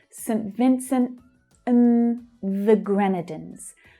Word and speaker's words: Grenadines: Vincent and the Grenadines. Gren is the stressed syllable there. Grenadines.